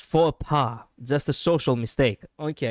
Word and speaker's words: faux pas: It's pronounced faux pas.